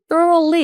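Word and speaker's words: thoroughly: 근데 발음이 좀 어려워요. 거의 thorly 이렇게 들어가는데 이게 조심하셔야 됩니다. 여기 수루가 아니라 중간에 오가 있잖아요.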